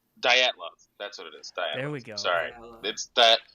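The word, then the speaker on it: Dyatlov: There was nine hikers who mysteriously died in 1959 Russia under condition pronounced. Did you say Dilattov? I said Datlo.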